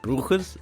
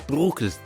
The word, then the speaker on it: Breukers: name right when I I asked Seb do you pronounce it bras he goes no it's bookas I'm like well it sounds like my name Brooker he goes yeah but it's Brook anyway I called him